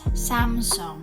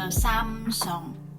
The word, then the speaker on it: Samsung: big brand samsung will pronounce it as samsung because in korean a pronounced as a so samsung so this brand is